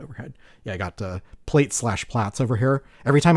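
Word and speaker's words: Plaits: But, um, since it was created by a European, I think plat is probably actually the correct pronunciation.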